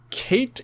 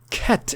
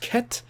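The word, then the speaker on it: Cait: sister Duo they're called Kate and Sith no it's KET is how it's supposed to be pronounced KET wait what no way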